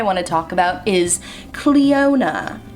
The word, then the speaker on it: Cleona: So the first brand I want to talk about is Cleona, which I've been told is how you say it.